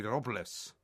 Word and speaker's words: Robles: from Spain, so his correct pronunciation of his name should be Robles.